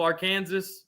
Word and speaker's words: Arkansas: we're being fous Lane this one I pronounced on purpose wrong it's a southern thing from the south you you know we call it AR Kansas that one lane come